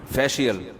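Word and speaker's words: facial: फिशल फिशल फिशल फैशल अबे सही pronunciation बुलवाया करो। फिशल ना फैशल ये अमेरिका से आए हैं। ये सही बताएंगे। जी फेशियल ये अमेरिका से आए भाई।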